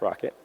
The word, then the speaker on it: rkt: And then Rocket, which is RKT, is pronounced Rocket.